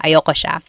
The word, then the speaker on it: ayoko: That's another thing with pronunciation. Usually it's pronounced ayoko siya. So if you want to sound a little bit more natural, you put everything together, ayoko siya. Ayaw ko siya is ayoko siya.